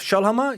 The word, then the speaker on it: Schoellhammer: If you just Google my name, Ralph Schoellhammer, you'll find... Spell it out. So it's RALPH, so like Ralph Lauren, no relation. Yeah. And Schoellhammer is SCHOELL and hammer like the tool.